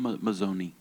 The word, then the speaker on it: Mazzone: Today we have the honor to hear from Mazone. Is it the right pronunciation of your name? Mazonei.